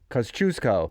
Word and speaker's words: Kosciuszko: The first syllable is cuz, like cousin. Second syllable is choose, like choose or lose. Right. So cuz, choose, co. Kosciuszko.